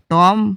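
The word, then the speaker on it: tomb: meaning बनता है मकबरा टॉम मकबरा य प्रोनंसिएशन ब को कम उच्चारण होगा और म का ज्यादा होगा एपीटफ एपीटफ का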